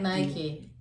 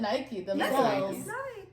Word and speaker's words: Nike: really that's just it the company calls it Nike you can't miss especially if a brand pronounces the way that it's done yeah I was gonna say the brand tells you yeah Nike I'll do